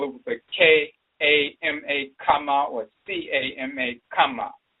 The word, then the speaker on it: Kama: And sometimes they spell it with a K-A-M-A, Kama, or C-A-M-A, Kama. So Chama and Kama is the same pronunciation.